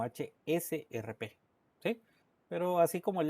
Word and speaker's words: HSRP: Algunos dicen HCRP y no es HCRP, sino HSRP.